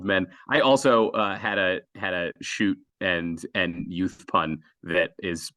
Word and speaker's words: Schutt: And of course, shoot is spelled SCHUTT.